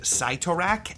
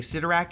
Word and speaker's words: Cyttorak: There seem to be multiple official pronunciations of this entity's name. Different Marvel media has used both Cyttorak and Cytorrak at different times. I'm saying Cyttorak in this video because that's more common among fans, but technically either is correct.